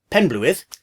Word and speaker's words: Penblwydd: it's not really and if you run the three English words pen blue and with together pen blue with you've got a pretty good approximation of the word now the next part